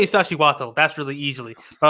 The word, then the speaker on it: Iztaccíhuatl: Well, let me try to get this pronunciation right. It's Popocatépetl and Iztaccíhuatl.